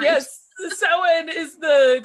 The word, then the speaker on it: Samhain: Samhain. I don't say it right. Yes, Samhain is the correct pronunciation for All Hallows Eve.